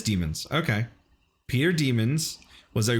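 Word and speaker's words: Demens: Built by Peter Demons in 1889, Peter Demons, pronounced Demons. Oh, it is Demons.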